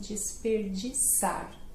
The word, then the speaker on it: desperdiçar: Que são de S, né? O C cedilha no português são de S. Então, e aí começa com dis, né? Também. Então, o R no meio, de novo, aí desperdiçar. É chatinha mesmo, essa é chatinha, né?